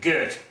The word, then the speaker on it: Goethe: They pronounce it Goethe, and Girthite nowadays.